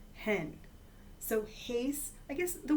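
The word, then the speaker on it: ἕν: in the nominative and hen is how you say it in the neuter in the nominative thoughts I call it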